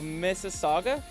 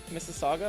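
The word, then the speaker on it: Mississauga: Oh, Missaga. Missaga, Ontario.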